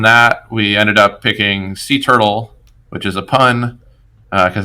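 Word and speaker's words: C Turtle: we ended up picking sea turtle which is a pun because it's pronounced like sea turtle like the ones that swim through the sea but it's spelled with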